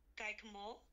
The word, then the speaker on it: guacamole: Guacamole. It's guacamole. So we'll do it syllable by syllable. So it's gua, ka, Guacamole.